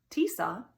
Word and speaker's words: Tisa: label off the bottle tisa rhymes with lisa has been my nearest